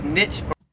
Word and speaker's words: niche: say niche erica again americans say this both ways i've heard americans say niche i've heard americans say niche but it's pretty common to say nits i myself always said